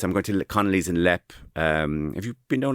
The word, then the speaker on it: Leap: I'm going to Connley's in Lep. Um, have you been known in Connley's and Lep? What's that? It's exactly No, the LEP is spelled leap.